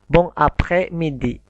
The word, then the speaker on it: bon après-midi: Jadi ketika o dan n dibaca ong, maka digabung dengan a. Bon, kalau dipisah bon après midi, s-nya tidak dibaca. Bon après midi. Tapi ketika digabung menjadi bon après-midi.